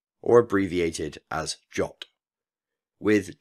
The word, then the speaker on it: JWT: pronounced in full as JWT or abbreviated as jot with jot being the suggested pronunciation from the original Json web token standard I've heard many other